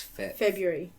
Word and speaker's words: February: I don't think you pronounced the BR. It's fe February.